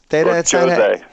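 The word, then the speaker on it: José: Jose. His name is Jose or something. He sounds like a cologne. You pronounce the J on it.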